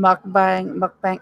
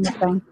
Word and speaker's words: mukbang: We would so do that true crime mukbang. How do you say it? Mukbang. Mukbang. I call it mukbang. That's probably that's my North Carolina way of saying it.